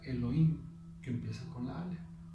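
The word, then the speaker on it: אלהים: La A, que es la letra Aleph, viene de la primera palabra que se pronuncia Elohim, que empieza con la Aleph.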